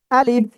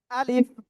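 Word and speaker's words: ألف: আলিফ টেনে পড়তে হবে এই আলিফ অক্ষরে আপনার জাস্ট এক আলিফ না টেনে আপনাকে উচ্চারণ করতে হবে।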